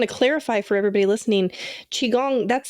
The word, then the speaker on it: Qigong: I just want to clarify for everybody listening chiong that's spelled Qi g o n G correct if